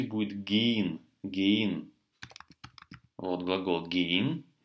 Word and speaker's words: gehen: Вот глагол gehen. Ха не читается в середине.